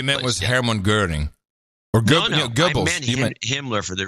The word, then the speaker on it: Goebbels: By the way, there's no R in Goebbels, just because I love you.